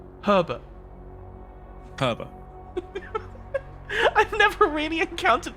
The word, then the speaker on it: Herbert: I don't think it's quite as pronounced as the first R in it, but Herbert. Herbert. I've never really encountered the name Herbert in real life before.